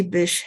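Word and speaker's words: Bysshe: name is a not very common to be pronounced you know one breath and it's fish Percy Bish Shetty and I gave you all these links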